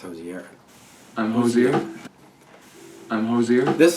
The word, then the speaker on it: Hozier: to watch two videos to see how he pronounced it it's josier I'm josier I'm josier this song is like